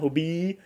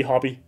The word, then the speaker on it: hobbii: a while ago and a lot of Danes, they will just say hobby because and not say it like hobie because there's two e, right? So, you need to like drag it out like that, hobie.